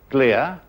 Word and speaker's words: glia: There you have a glial cell. Glia, I said, how do you spell it?